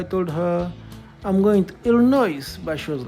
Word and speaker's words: Illinois: So the translator by then who who translated that movie was Vij Jun and he called it ill noise.